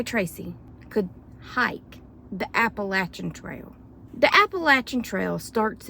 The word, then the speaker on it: Appalachian: And you have to say Appalachian, okay? Appalachian. Anyway, don't hit me.